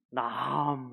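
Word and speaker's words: נחם: 나함 이렇게 하를 길게 발음하시면 바로 그 뜻이 들어오실 겁니다.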